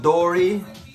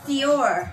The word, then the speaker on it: Dior: It's called Dory by, how do you say this word there? That's Dior. I know, but you know, for like, who doesn't know Dior is Dory?